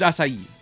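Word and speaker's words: açaí: How do you pronounce that? S? Oh, it's acai.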